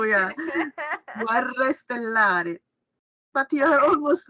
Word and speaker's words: Guerre: And Guerre stellari. Guerre. The difficulty is the R for you, yeah. Guerre stellari.